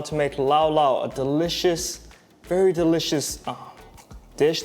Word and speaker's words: laulau: know how to say it can everyone say laula perfect i'll turn the time over to my